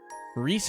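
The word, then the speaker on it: Ries: Is it Rice or Reese? Reese Argent. I want to make sure I'm pronouncing it correctly. Yeah, it looks like Reese.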